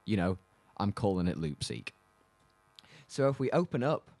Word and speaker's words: Loopseque: e qu e and I guess that it kind of was saying Loop and sequence so I went with Loop seek I'm not sure if